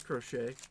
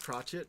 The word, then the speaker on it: crochet: It's crochet. Not crotchet, but it's fine.